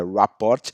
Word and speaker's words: rapport: falo francês que eu não vou me arriscar numa pronúncia aqui em francês mas em inglês é rapport e o que que